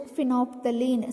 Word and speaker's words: phenolphthalein: Pronunciation phenolphthalein, spelling PHENOLPHTHALEIN.